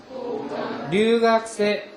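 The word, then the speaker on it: 留学生: 고간 류학생, 고간 류학생. 여러분 요 류 발음을 잘 안 하면 그냥 고간 류학생 이렇게 돼버려요. 그러니까 이 혀를 많은 류 발음을 좀 기억을 해서 내주세요.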